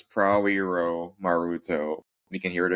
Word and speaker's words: Prawiromaruto: Steve, what's the best way to pronounce your last name? it's Prawiromaruto.